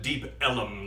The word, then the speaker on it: Deep Ellum: They they pronounced it Deep Ellum down there.